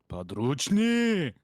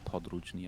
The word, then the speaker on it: podrychni: no, the key thing is it's Padrucci instead of Podrucci, I think.